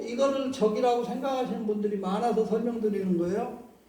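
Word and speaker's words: 炙: 근데 저기서는 자라고 읽지 말고 적이라고 읽는 돼.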